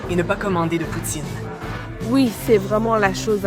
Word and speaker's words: poutine: Dis-moi, quelle est la bonne façon de le prononcer ? En française, c'est poutine.